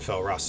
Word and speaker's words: Falrast: And Felrast is spelled Falrast.